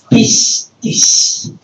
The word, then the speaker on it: pistis: Así como se escribe, como se pronuncia, pistis, que en griego tiene varios significados, o es sinónimo de creer, confiar, fidelidad, compromiso, juramento, verdad.